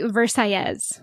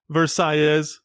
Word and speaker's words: Versailles: influenced by Spanish mhm they actually pronounce it the double L's as if you were speaking Spanish oh as a y and so it's actually verses verses yep okay cool my first choice verses restaurant verses Cuban Cuisine